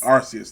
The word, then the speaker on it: Arceus: curious i don't know you pronounce it looks fantastic arceus thank you that's yes that's going to change